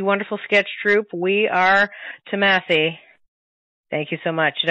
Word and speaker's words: Thomasse: Thank you so much to the wonderful sketch troupe, We Are Thomasse. Thank you so much. Did I pronounce that right?